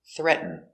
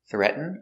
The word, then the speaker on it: threaten: We have two pronunciations, threaten or threaten. First, let's do threaten. Threaten. Threaten. Threaten. Other pronunciation, threaten. Threat. Now we go from the T to the N and it falls like this. Threat. So you make the position of the T, but you don't make the T sound.